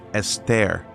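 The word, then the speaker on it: אסתר: about a Jewish queen named Esther, pronounced Esther in Hebrew, who lived in the Persian court of Xerxes, along with Mordecai, who in Hebrew is Mardoki, and Mardochaeus in Greek.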